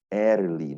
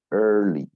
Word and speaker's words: early: Examples are search, learn, earn, so earn, early, not like some people can say early, no, not that. Say early, because there is a sound there, and rehearse.